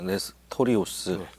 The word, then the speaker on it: 네스토리우스: 사람들을 레스티우스파라고 했습니다 발음을 정확히 하면 내 스토리우스토리우스 아 내 스토리우스 스토리우스에 대해서 오늘 한번